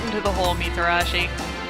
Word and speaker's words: Mitarashi: right into the hole mitarashi it's fine oh wow they actually pronounce the T in your name is something I don't do ever a katana excellent can